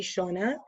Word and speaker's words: Shauna: the bar so her name is shauna s-h-a-u-n-a shawna nequest which is like i'll spell it for you n-i-e-q-i-s-t and um also another